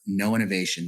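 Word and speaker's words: Know Innovation: So to your question, uh, um, I do work for a consulting firm called No Innovation. That's spelled KNOW.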